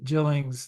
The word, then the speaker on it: Gillings: Well, Soft G Gillings, this has been absolutely fantastic.